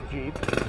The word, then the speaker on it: Jeep: a general purpose vehicle as in GP but it got pronounced as Jeep and here are quite